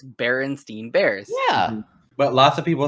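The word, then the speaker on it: Berenstain Bears: it right um wait how do you say it Devin Berenstein Bears all right what's the wrong way to say it yeah my my wife says it Bernstein Bears Bernstein Bernstein Bears yeah nope it's Berenstein Bears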